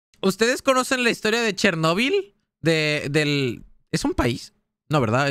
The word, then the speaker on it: Chernóbil: Chernóbil, ¿no? O Chernóbil. Tiene acento. Chernóbil. Es Chernóbil, no Chernóbil. Sí, sí. Tiene acento en la O.